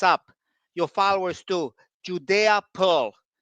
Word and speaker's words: Pearl: To get there, you have to use Judea Pulse, in my opinion, something called causal inference. You have to look this up. Your followers too. Judea Pearl, Pearl.